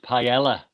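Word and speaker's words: paella: not a b Sor I'm sorry it's it's pronounced Pella I thought you knew that oh somebody has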